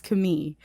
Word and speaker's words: Khmer: So if you're wondering why I'm pronouncing Khmer like that, I was looking for the proper pronunciation, and then I saw the actual pronunciation written by locals that it's Khmer.